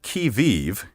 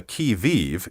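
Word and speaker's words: qui vive: but back now to the french the expression kiviv is the century's challenge who goes there in english we use the expression on the key vive to mean on the alert ready and watchful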